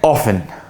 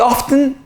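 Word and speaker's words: often: عشان عليها جدل كتير بص هي اوفن اوفن طب في اوفتن اه بس مش اوفتن يعني في في اه في ناس اللهجه بتنطقها تنطق التي بس مش تقيله قوي زي ما انت متخيل مش اوفتن ها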